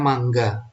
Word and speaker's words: manga: ya atau gambar harusnya mangga ya tulisannya manga Tapi bacanya Mangga saya sengaja ngomongnya mangga